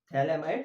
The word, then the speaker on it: phthalimide: View GPS मतलब Gabriel थैलेमाइड synthesis. अब थैला मतलब टी, यहाँ पे क्यों आ रहा है, बिकॉज पी साइलेंट है यहाँ पे, ठीक है।